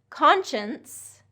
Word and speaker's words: conscience: Conscience, conscience has that NS, conscience. Conscious is conscious, okay?